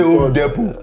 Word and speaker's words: Home Depot: This T is silent. We say Home Depot.